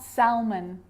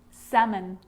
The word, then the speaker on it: salmon: Could, could, should, should, talk, walk, yoke, half, calf, salmon, not salmon, salmon.